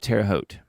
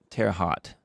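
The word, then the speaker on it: Terre Haute: Happened outside of Teroot, which I've heard how Turner, he calls it terot, but I'm from Indiana.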